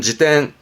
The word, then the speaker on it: 辞典: 발음은 지땐, 지땐.